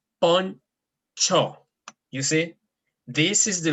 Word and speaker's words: poncho: at the beginning, but whenever it's beside a C, it takes a sound. It makes the sounds of che.